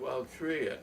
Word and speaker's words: Altria: So they changed their name to Altria, A-L-T-R-I-A, but I spell it Altria. I'll try and fool you.